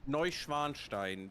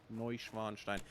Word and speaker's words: Neuschwanstein: No, I'm already gone Neuschwanstein?